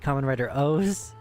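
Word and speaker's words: Kamen Rider OOO: There's one with three zeros at the end of it and it's called Common Rider O's.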